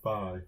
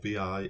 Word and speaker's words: vi: this talks all about buy or VI it gets pronounced both ways Phi is an editor